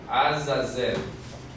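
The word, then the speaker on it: עזאזל: En hebreo se pronuncia así. Azazel.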